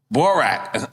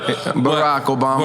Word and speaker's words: Barack Obama: I fucked up the way I pronounced it. Barack Obama.